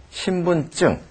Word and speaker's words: 신분증: 쓰여진 것을 그대로 읽으면 신분증이지만 발음은 신분증 이렇게 발음해야 됩니다.